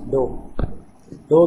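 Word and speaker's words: ∂: Similarly, y component of the electric field minus del V by del y. You can pronounce it as del. Sometimes it is pronounced as dou V by dou y, like that.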